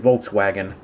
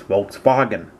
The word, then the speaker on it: Volkswagen: the volkswagen new beetle or as we americans say it volkswagen technically it's volkswagen just saying anyway in 1997 the